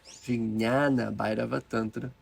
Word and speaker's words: Vijnana Bhairava Tantra: iniciadas nessas práticas, lá no Vijnana Bhairava Tantra, Vijnana Bhairava Tantra, forma correta de pronunciar.